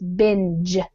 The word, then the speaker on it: binge: guys aware of the the pronunciation with the G it's a what we call a soft G so it's binge like kind of like a j binge but binge watching U